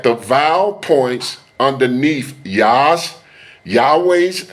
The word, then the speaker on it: Yahweh: Notice that the vow points underneath Yas Yahweh's name are different than 3068 and produce the pronunciation Yahooi. The name Yahweh is the most accurate pronunciation of the Most High's name.